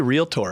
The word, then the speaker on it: realtor: to even listeners like why do you say real Tor I'm like that's actually how you're supposed to say it right right right uh